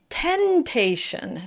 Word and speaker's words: tentation: So it's very tempting to say tentation, because also it looks like the number 10. But so just be very careful, practice each syllable separately.